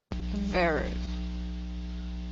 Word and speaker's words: verb: Verb. Yeah. Make sure you get the B sound at the end.